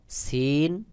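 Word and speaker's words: ث: চারের ভঙ্গি চার রকম এই সা আওয়াজটা একেবারে পাতলা করে উচ্চারণ হবে বাহিরের দিকে বাতাস বের হবে সহি উচ্চারণ হলো সা আলিফ বা তা সাপ রয়েছে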